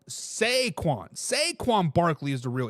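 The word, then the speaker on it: Saquon: people on the YouTube says I was saying it wrong I was saying Shaquan is sequan sequan Barkley is the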